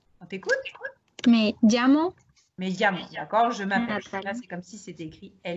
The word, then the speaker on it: llamo: Alors, le son, la lettre, enfin le son, le double L en espagnol, il va se prononcer comme s'il était écrit LI. On t'écoute? Me llamo Me llamo, d'accord?